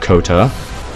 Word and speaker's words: Kota: Kota. Sounds like rhymes with Yoda.